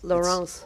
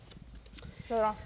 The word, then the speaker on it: Laurence: It's It's like Laurence. Laurence is like a boy name in Yeah. English, but in French it's actually a girl name.